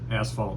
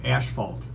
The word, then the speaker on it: asphalt: And the good part is John pronounced asphalt right. I did. Because some people call it asphalt.